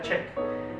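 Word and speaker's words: 책: ver un ejemplo en coreano libro se dice check Okay así se escribe check y se pronuncia check entonces e chotta es un adjetivo en coreano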